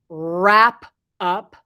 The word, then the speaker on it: wrap up: for pronunciation please notice if you have a w next to an r in English the W is usually silent so this word sounds like it has an r in the front wrap up and wrapped up so